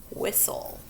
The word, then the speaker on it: whistle: Number 17, whistle. First, we have that final stable syllable TLE at the end. We're going to cross off the E because we don't say it.